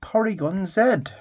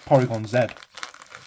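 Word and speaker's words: Porygon-Z: Porygon Z damn see I think it's Zed right because in in hisum 11 when they do the move triangle Zed they call it triangle Zed they don't call it triangle Z so I'm calling it Porygon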